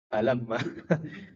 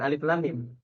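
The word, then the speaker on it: الم: Jadi dia karena belum tahsin, bacanya tuh bukan alif lam mim. Gimana bacanya? Alamma. Alamma dibacanya, bukan alif lam mim.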